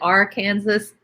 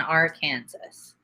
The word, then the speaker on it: Arkansas: and jump into there it's illegal to pronounce it R Kansas I used to live in Arkansas um over near Little